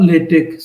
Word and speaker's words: LaTeX: Elsewhere, OneNote or Google Drive or Google Notes to take notes, and LaTeX or LaTeX, sometimes pronounced, to type your thesis.